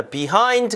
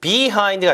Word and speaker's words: behind: 자, behind 같은 경우도요. 뒤에 있는 거죠. 반대인데 이것도 behind가 아니라 behind 해서 약간 이 발음이 약화되면서 behind 아닙니다. behind 이렇게 약간 약화되죠. 강세가 이음절을 가니까요.